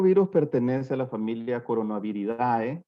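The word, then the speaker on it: Coronaviridae: coronavirus etcétera nuestro virus pertenece a la familia corona habilidad o corona vida de la manera correcta de pronunciarlo a la subfamilia corona beer y corona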